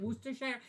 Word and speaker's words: Worcestershire: That's how you're supposed to say it, Worcestershire.